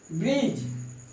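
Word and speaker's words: bridge: यानी हम डी का प्रोनाउंसिएशन नहीं बोलेंगे। एज, ब्रिज, ये डी जो है आपका गायब हो जा रहा है।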